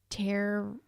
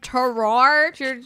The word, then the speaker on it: terroir: Paso Robles, unique terror. Got me. Terror. Terror. What? It's spelled Terroir. Oh, terroir. Yeah, that's better.